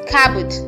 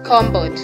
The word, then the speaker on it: cupboard: You pronounce this as cabot, not combod.